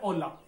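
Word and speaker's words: hola: ठीक है, तो पहला हो गया ओला, वो है नमस्ते। नमस्ते जो होता है अपना वो है ओला, है होला नहीं है, एच साइलेंट है, ओला।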